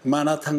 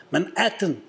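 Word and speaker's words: Manhattan: 사역할 때 흑인 여자한테 마나탄 가는 버스를 어디서 탑니까? 하고 물었다가 몇 번이나 마나탄 막 갸우뚱갸우뚱 그래서 한참 얘기했더니 막 이렇게 손짓발짓 얘기했더니 맨해튼 그러더라고요. 맨해튼 우리하고 발음 많이 달라요.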